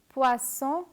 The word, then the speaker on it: poisson: inform you that interestingly, a single S in French is pronounced like the letter Z in zone and zero. For instance, this word is pronounced as poison. It means the same thing as in English, poison. But when you add a double S, poison becomes poisson.